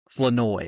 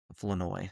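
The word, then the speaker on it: Flournoy: Flanoy, okay. I would not have said that correctly. If you listen to the broadcast, that's how they pronounce it. Flanoy.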